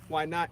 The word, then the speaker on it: YNOTT: Why Not is spelled YNOTT, and it's an acronym for Youth Needing Organ Tissue Transplants.